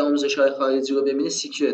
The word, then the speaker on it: SQL: اما اگه آموزش های خارجی رو ببینید سیکیور تلفظ میشه.